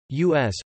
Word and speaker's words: US: song which sponsored two u.s festivals with u.s pronounced like the pronoun not as initials initially intended to celebrate